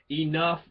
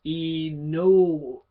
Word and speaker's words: enough: But E-N-O-U-G-H, right? That's E-no-ugah. E-no-ugah. Right? If you were to pronounce it exactly phonetically, what enough actually says. E-N-O-U-G-H. What's G? Guh. There's no E-guh. It's enough. It's an F.